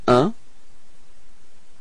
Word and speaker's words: un: So, un. Repeat. Un. Okay? It's quite tricky, this one, because it's nasal, so it's coming in your nose, okay?